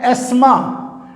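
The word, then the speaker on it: asthma: हैं acne next है आसमा T silent T हा जो है वो साइलेंट है आसमा दम डम की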